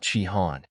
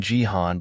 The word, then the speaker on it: Jihan: Jihan corrected him saying he was Jihan not chihan Baron laughed mocking Jihan by mispronouncing his name